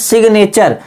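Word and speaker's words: signature: होना चाहिए जैसे इसमें सिग्नेचर एन के पहले जी तो है पर जी का उच्चारण हो रहा है इसमें क्यों क्योंकि ये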